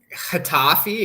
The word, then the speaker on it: Getafe: So there's another team like isn't Getafe? Isn't it more like an H with the G? Getafe, yeah, Zaragoza.